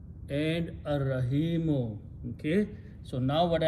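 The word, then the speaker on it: الرحيم: In the Tajweed, when Ra comes and Lam comes before that, we don't pronounce Lam, but we pronounce Ra twice.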